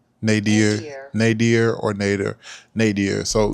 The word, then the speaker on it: nadir: Nadier. Nadier. Nater. Nadier.